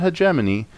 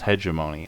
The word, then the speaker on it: hegemony: Now, I pronounce it hegemony, and that is one proper way to say it. It can also be pronounced hegemony.